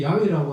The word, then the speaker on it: 야훼: 그렇게 발음을 해버리게 됐지만 그러나 그 발음에 가까이는 야훼입니다. 근데 이 야훼라고 하는 이 신명 외에 많이 등장하는 하나님을 뜻하는 단어가 있어요.